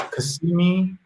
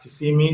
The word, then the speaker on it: Kissimmee: It's Kasimi and not Kissimmee.